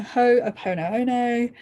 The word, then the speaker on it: Ho'oponopono: Ho'oponopono, I think. Ho'oponopono, that's how you say it.